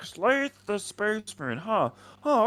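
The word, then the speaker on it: Slathe: I'm Slaith the Space Marine. That's spelled S L A T H E the Space Marine. He's like Sly the Space Marine.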